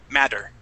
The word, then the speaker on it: matter: Give me a good double T sound. We're going to change that to a D, mad, matter.